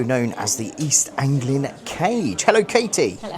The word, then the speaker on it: Kage: You can find her on Instagram as East Anglian Cage. So cage spelled with a K rather than what you lock up.